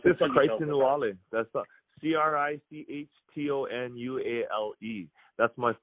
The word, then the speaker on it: Crichton: It's spelled like Crichton, but it's pronounced Crichton.